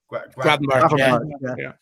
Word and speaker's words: Gravenberch: I was going to say, because he's playing tonight, I can't pronounce his name. Is it Gravenberch? Gravenberch, yeah.